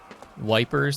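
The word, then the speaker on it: Ypres: Wipers? That's what the British called it. They couldn't figure it out. They called it wipers. So that's probably just the westernized pronunciation of it.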